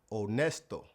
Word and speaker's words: honesto: The H in Spanish is always silent. It's like the H in the word honest. honesto Even English words where we pronounce the H, it would be silent in Spanish.